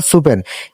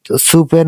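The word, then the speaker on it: スペイン: দন্তান হয়ে যাওয়ার কথা সুপেন। কিন্তু এটা আমরা উচ্চারণ করবো প এর সাথে দন্তাস এর সংযুক্ত করে। যেহেতু এটা পি সিরিজের সরি পি সিরিজের তাই আমরা এটা উচ্চারণ করব। সুপেন না বলে স্পেন।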